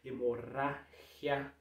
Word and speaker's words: hemorragia: O G com I vai ter um som de R mais um pouco mais seco. Hemorragia, hemorragia, certo?